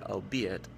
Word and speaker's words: albeit: anthony lighten your anxiety the archaic word albeit does not rhyme with eight you see it with